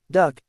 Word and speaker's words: DUKW: The DUKW, popularly pronounced Duck, is an example of